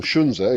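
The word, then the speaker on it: Sun Tzu: And Sunzu will tell you the art of war or Shunza if you use the proper um Chinese pronunciation.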